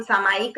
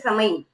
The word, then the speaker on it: सामायिक: हम सामायिक बोलते हैं, हम क्या बोलते हैं, समई। मैं समई कर रही हूँ, तो बहुत कम लोग बोलते हैं कि मैं सामायिक कर रही हूँ।